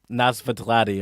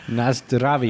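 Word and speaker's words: Na zdraví: And then they chug down a Pilsner and exclaim, Nazvatladi, or how do you say, is that how you say cheers? Nazdravi.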